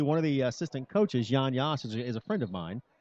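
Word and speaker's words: Jan Jas: His name is Jan Yass. His name it's spelled Jan space Jas.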